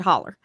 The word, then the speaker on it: hollow: hollow oh it's a hollow that yeah that's how it's spelled it's spelled hollow and we pronounce it holler but a hauler a